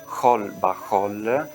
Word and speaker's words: xol baxol: Tanto che la stessa scritta xol baxol, che in realtà si pronuncia hol ba h significa in wall of